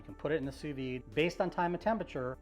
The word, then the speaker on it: sous-vide: sous-vide our meat and it's pronounced sous-vide that's with a d not sous-vide and this is an